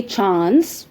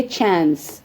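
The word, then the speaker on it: chance: अब इसको यूके में बोलेंगे चांस with the long uh. सो चांस एंड यूएस में बोलेंगे चांस शॉर्ट अ साउंड।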